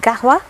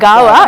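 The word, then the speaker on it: قهوة: People say gawa, it's kahwa. It's kahwa. Yeah, it's kahwa. ഇത് പറഞ്ഞപ്പോഴാ അറബി അവിടെ പിടിച്ചു ഞാൻ കേട്ടോ. ഈ നമ്മള് ഗാവാന്നും കാവാന്നും പറയും, പക്ഷെ how do you pronounce it? Kahwa. It's from the epiglottis.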